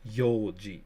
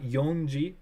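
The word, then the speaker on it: 四時: And 4 is Yoji. So not Yonji, Yoji. So I mean, I'm not saying that you said it wrong, but a lot of people get that one mixed up.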